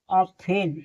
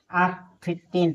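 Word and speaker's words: often: माने सुनना listen O एफ टी इ एन ऑफेन इसे ऑफेन पढ़ेंगे ऑफेन नहीं यहां टी साइलेंट है इसे ऑफेन पढ़ेंगे ना कि ऑफिटेन पढ़ेंगे इसे सॉफ्टेन नहीं पढ़ेंगे एस ओ एफ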